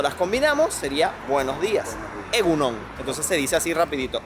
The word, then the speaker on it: egun on: Egunon, se dice todo pegado.